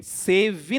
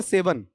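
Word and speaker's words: seven: सेव इन नहीं होता बेटा इसका उच्चारण। सेव इन मत करना। यह इंग्लिश मीडियम में कई बार बच्चे बोल जाते हैं। सेव इन या सेवन?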